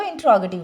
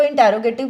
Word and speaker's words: इंट्रोगेटिव: या फिर हमने इसको इंट्रोगेटिव बनाना होता है। कई लोग इसको इंटेरोगेटिव बोलते हैं, वो गलत प्रोनाउंसिएशन है। इसकी सही प्रोनाउंसिएशन क्या है, इंट्रोगेटिव, ठीक है। इंट्रोग इकट्ठा बोलो, टिव बाद में बोलो, इंट्रोगेटिव।